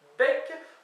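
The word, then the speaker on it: beg: sûr de tout alors bec on écrit B G mais ça se prononce pas bec ça se prononce bec pour bouche voilà donc ça j'ai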